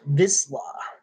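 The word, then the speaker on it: Vizsla: Um, it's pronounced Visla.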